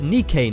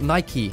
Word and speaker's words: Nike: this is actually a missile base which is pronounced nikkei not nike but anyways this is different to most missile